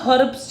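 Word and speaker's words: herbs: उसके सिवा हमें रॉ मटेरियल, बोलते लिखा इसे हर्ब्स जाता है पर प्रोनाउंसिएशन हर्ब्स होती है, एच इज साइलेंट।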